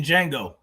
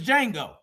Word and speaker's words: Django: Devin is Django. Devo, Django, Devin. And they big man. They like, man, what this nigga doing on that horse? And the J is silent.